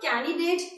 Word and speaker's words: candidate: It's not candidate, it's not candidate, it's candidate. Yes, the candy like to eat. So the same candy, another date, mix both of them and pronounce candidate.